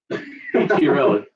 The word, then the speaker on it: Chiarelli: Chiarelli.